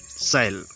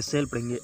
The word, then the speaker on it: shall: Next word है जो अपना है सेल, यानी सेल, जो इसको क्या पढ़ेंगे, साल नहीं पढ़ेंगे, सेल पढ़ेंगे, SHALL, इसको सेल पढ़ते हैं, इसका उच्चारण होता है।